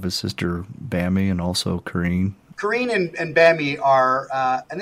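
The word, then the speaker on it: Corinne: completely aside, but I always thought it was pronounced Corrine. Mm-hmm. But actually what you hear on the recordings is how they actually pronounce their names. So it's pronounced Corrine.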